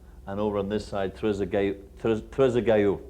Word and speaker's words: Trezeguet: over on this side, Trezeguet, I believe is the French pronunciation.